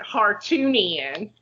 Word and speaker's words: Hartunian: There is a girl whose last name is Hart, and this time I wrote it out like you pronounce it, Hartunian. There is a girl by the name of Kate Hartunian, and she has these